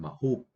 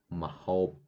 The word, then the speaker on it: ម្ហូប: អ្នកស្គាល់ម្ហូបខ្មែរទេ អ្នកស្គាល់ម្ហូបខ្មែរទេ So mahop is food. Actually, before for this phonetic mahop, I always write MAHOOB. But all students they always pronounce mahop. So now I change the way to write this. So right now I change to AU for sound O. Okay. So this word again you will say mahop.